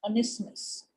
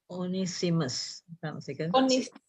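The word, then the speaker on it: Onesimus: don't know his name honestness okay if i pronounce it wrong you can correct me okay now oh oni simas okay okay thank you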